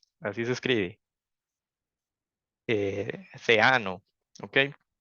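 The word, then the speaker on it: Theano: de tensorflow a otro que se llama eh zino Así se escribe eh ceano okay e básicamente son dos backends que antes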